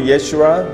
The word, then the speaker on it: Yeshua: So in Hebrew, Yeshua, later it is pronounced Yesu, which means his salvation.